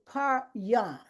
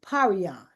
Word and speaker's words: paryon: So he gave me this word, paryon. And so I pronounced it paryon. And I want everybody to say it. You don't have to unmute yourself, but say paryon, paryon. That's how I pronounce it, paryon.